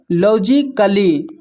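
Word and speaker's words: logically: यहां पर देखिए लॉजिकली लॉजिकली में ए साइलेंट है। ए के बाद डबल एल वाई है।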